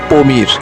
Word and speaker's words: Pamir: সবচেয়ে উঁচু মালভূমির নাম পামির মালভূমি স্থানীয় ভাষায় এর উচ্চারণ হচ্ছে পমির যার অর্থ হচ্ছে সূর্যের